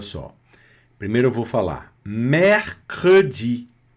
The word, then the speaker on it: mercredi: O primeiro E que apareceu, ele está com R. Então, ele vai ser pronunciado mais aberto, mesmo ele não tendo aqui um acento. Então, a letra E, no meio da palavra, sem acento, com a letra R, vai soar mais aberto. Mer. E aí, logo a próxima sílaba, que é o cr, já vai pronunciar o E.